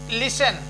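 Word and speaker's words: listen: यह आपका साइलेंट है टी साइलेंट कब होगा यदि किसी शब्द के अंत में न या टच एक शब्द और है न या टच आता है तो उसमें टी साइलेंट रहता है जैसे ऑन तो न जो है यह पूरा साइलेंट हो जाएगा ऑन या फिर लिसन तो एल आई एस लिसन एन पढ लिया गया तो यह आपका छूट गया तो यह साइलेंट हो जाता है तोय इसमें इतने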